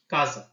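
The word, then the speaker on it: casa: রজা রোমা তারপর হচ্ছে এস এস উচ্চারণ কখনো আমরা দন্তসর মত পাচ্ছি এবং কখনো সব কখনো পাচ্ছি জ এর মত যেমন সলে যেমন সলে এবং কাজা যখন শুরুতে থাকছে তখন হচ্ছে এস যখন দুটো স্বরবর্ণের মাঝখানে থাকছে আ এবং আ এর মাঝখানে তখন উচ্চারণ হচ্ছে হচ্ছে জমন কাজ যদি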